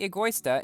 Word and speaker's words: Egoista: today i'm going to be testing the lamborghini Agusta and multiplayer in asphalt 9 yes i finally pronounced it correctly i spent probably five to